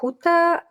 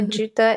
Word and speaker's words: Juta: what it is and in Spanish I think it's pronounced huta I don't even know what it's pronounced in English IO juta it's spelled j u